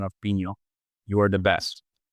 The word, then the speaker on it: Pinho: Um, and I want to give you an A+ in your Portuguese pronunciation of Pino.